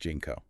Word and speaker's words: JNCO: to talk about is jnco jeans jnco yeah pronounced jeno you know those jeans